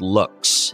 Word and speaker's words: Loox: CEO of a platform called looks and it's spelled L oox and you know I've